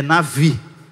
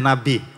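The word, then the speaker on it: נביא: para você saber que se você quiser falar chique é Navi não é Nabi ok muito bem aí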